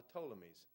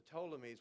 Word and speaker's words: Ptolemies: antagonists and then p which the P is silent it's called the ptolemies the ptolemies would take over Egypt